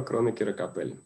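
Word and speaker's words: Кронекера — Капелли: Так, тут часто часто в этих фамилиях путают ударения, поэтому давайте я их проставлю. Значит, Кроникиркапеellли. Теорема Кронокера Капели.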